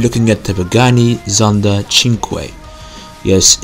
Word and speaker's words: Cinque: it's pronounced chin because that's the Italian word for five they made five version